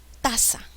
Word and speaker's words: taza: mayor fuerza de bus a ver taza taza suena bien tasa tasa cuál es la sílaba que lleva la mayor fuerza es la penúltima sílaba por ende es grave taza termina en vocal